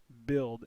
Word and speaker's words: build: U and you'll notice you have build I you have a short I sound but you've got a